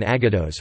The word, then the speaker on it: aggados: Place Aggadah, Ashkenazi pronunciation Aggadahs, refers to non-legalistic exegetical texts in the classical rabbinic literature of Judaism, particularly as recorded in the Talmud and Midrash.